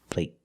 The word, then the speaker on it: plate: makes a vow shorter they're the same vow they're the long a but the stop T at the end makes the long a a little shorter let's listen again play